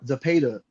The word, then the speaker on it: Zepeda: Zapeda.